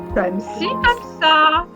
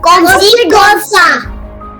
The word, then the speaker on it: comme ci, comme ça: Comme ci, comme ça. Repeat. Oui. Who said that? Comme si, comme ça.